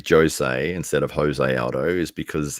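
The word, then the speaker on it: José Aldo: say Jose instead of Jose Aldo is because he himself says no my name is actually pronounced Jose Jose Aldo even though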